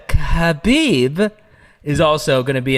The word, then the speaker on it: Khabib: uh in abu dhabi his good buddy uh habib dude you almost said it wrong bro i always said khabib is also going to be in abu dhabi